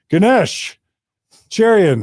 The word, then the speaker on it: Ganesh Cherian: We have back on our show in Mormon Stories Studio, one of our two favorite Kiwis, Ganesha Cherion. Is that okay? Is that Did I pronounce that right?